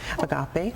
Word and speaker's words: Agape: Agape. Agape. Okay. Like agape love.